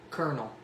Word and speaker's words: colonel: repeat after me okay colonel oh colonel saunders i don't know why it's spelled with an l that doesn't make any sense whoever made that up